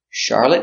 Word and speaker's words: Charlotte: is who was she the girl's name Charlotte pronounced char lit lit Charlotte is a girl's name and Charlotte is a city in